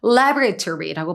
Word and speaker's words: laboratory: before beginning laboratory or laboratory. 뭐 두 가지 발음 있지만 역시나 디테프에서는 미국식 발음만 알고 계시면 되고요. Laoratory라고 발음합니다.